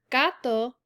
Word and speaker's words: gato: have generoso versus gato so notice in generoso the g sounds like an h because the e is following it but in the word gato it sounds like a normal g sound because there is an a following it the next fact is